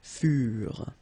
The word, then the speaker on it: furent: Keep in mind that ENT, you know, the ending for the plural form is never pronounced, so furent. Okay, ils furent, elles furent.